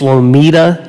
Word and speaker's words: Lomita: think the i think it's lomita is how you say the name of the town l-o-m-i-t-a lomita captain james